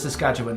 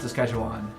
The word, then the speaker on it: Saskatchewan: enough internet and yeah it is Saskatchewan not Saskatchewan s skatan is for foreigners along with Toronto supposed